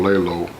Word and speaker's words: Leylo: magazine exclusive interviews well my name is uh I call myself filmmaker lay low uh lay low is spelled l-e-y-l-o are living every year